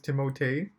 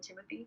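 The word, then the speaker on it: Timothée: it is the right i think the right pronunciation is timothee but he just says like everyone calls him timothy yeah because no one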